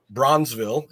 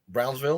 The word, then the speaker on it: Brownsville: so of course uh Bronzeville am I pronouncing it right Brownsville close you gotta say a little faster but yeah you're good all right uh they